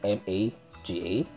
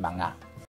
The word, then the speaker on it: mga: It's spelled like M-A-G-A, but it pronounced mga. Not maga or maga, it's mga ciudad.